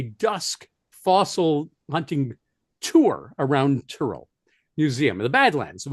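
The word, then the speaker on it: Tyrrell: that I had when it was called the Terrell Museum.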